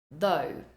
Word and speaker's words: though: the countryside through next next up though though again we have the thth at the beginning with a silent G though though it was raining